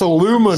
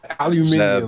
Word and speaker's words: aluminum: Oh, It's aluminum, Zeb, not aluminium.